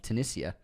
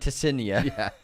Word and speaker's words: Tunisia: Magdalenian Productions unsubscribing for the pronunciation of Tunisia. I got it way off. Oh, yeah, you were like Tessinia.